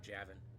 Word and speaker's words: Javin: Despite the spelling, it is pronounced Javin.